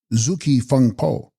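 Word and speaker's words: gzugs-kyi phung-po: in place of this zug ki funpo pronounced zuki funpo aggregate of the body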